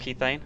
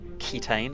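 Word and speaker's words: Kethane: we've got a few mods installed we've got key thing installed it is pronounced key thing not ketane as I was previously calling it uh and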